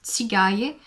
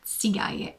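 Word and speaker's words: Țigaie: So it's a Tsigaye, and I think the English name for this sheep is actually Tsigai, and it's written Tsigai. So Tsigaye in Romanian, Tsigai in English, and it's the second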